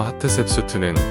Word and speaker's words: 하트셉수트: 복수형 어미는 우이기 때문에 세트를 셉수트라고 발음하는 것이다. 그래서 하트셉수트는 귀부인들 중에 1인자라는 뜻이다.